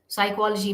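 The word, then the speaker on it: psychology: ल यानी L letter साइकोलॉजी में पी लेटर जो है वो साइलेंट होता है ये सब हम डिक्शनरी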